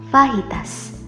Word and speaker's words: fajitas: Kalau hidangan asal Meksiko ini harusnya kamu ucap dengan fajitas.